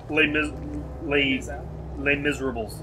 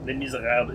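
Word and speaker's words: Les Misérables: Les Miserables. No, Les Miserables. It's set in French.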